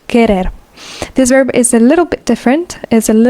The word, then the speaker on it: querer: Again, remember the U is not pronounced querer.